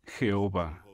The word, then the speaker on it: Jehová: vih o jhv h la pronunciación más común de este nombre hebreo es jehová j hb h el